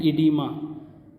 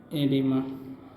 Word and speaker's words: edema: थोड़ा सा, तो इसको हम लोग बोलते हैं इडीमा। क्या बोलते हैं, एडिमा। पेन को क्या हो गया, चलिए नहीं बढ़िया। ईडीमा का स्पेलिंग है तुम्हारा EDEMA, ईडीमा, ठीक है।